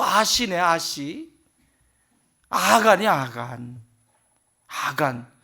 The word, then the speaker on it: 아간: 아간. 발음 잘해야 돼요.